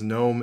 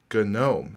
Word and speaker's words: GNOME: on the pronunciation of GNOME or GNOME. GNOME is the technical pronunciation, but they've also officially said that they do not care if you say GNOME. In other words, it really doesn't matter.